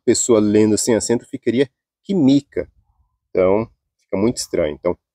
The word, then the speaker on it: química: do final eh última penúltima antepenúltima e a sílaba tônica tem que ser acentuada química química tem que ser acentuado se você não acentuar